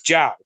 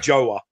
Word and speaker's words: João: woman, and her husband, it's João. That's how you say it in Portuguese. So he's American. He had Americanized his name apparently because apparently it's João. It's not Joa.